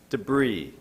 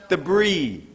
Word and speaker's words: debris: that decompose discard landfill debris debris why am I hearing s do I say s debris is there a snake in this classroom debris entangled entangled toxins